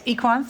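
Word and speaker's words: Equans: So the way you pronounce it, of course. Well, it's Equance.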